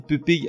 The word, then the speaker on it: pupille: Aussi étonnant que ça puisse paraître, pupille à l'origine se prononçait pupille, comme facile ou fournil. Or, compte tenu de son orthographe, P-U-P-I-2-L-E, les gens ont commencé à dire pupille, et aujourd'hui c'est la prononciation communément admise, mais pupille n'est pas incorrect et ça fait très chic.